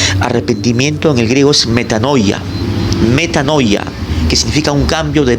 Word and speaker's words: metanoia: La palabra arrepentimiento en el griego es metanoia, que significa un cambio de mente y de